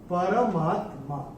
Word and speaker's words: परमात्मा: ये जो शब्द है ये है परमात्मा। परमात्मा नहीं, परमात्मा ये नहीं है, ये है परम आत्मा, परमात्मा। तो ये पूरा र का उच्चारण पूरा आना चाहिए।